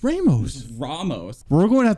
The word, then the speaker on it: Ramos: your final answer Ramos it's not Ramos it's Ramos Ramos we're going to have to do some double checking here right it's Ramos but it's almost great